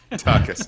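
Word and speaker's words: Daukaus: How do you say? Your former presidential... Dukakis. Dukakis? Dukakis, yes. Chris Dukakis. He's yes, Dukakis. Chris Dukakis. No relation to Michael Dukakis.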